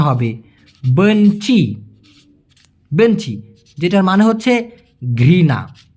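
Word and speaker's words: benci: ঘেন্নাকে বলা হয় বেঞচি বিই এন সি আই উচ্চারণটা হবে বেঞচি বেঞচি যেটার মানে হচ্ছে ঘৃণা ঘৃণা আই হেট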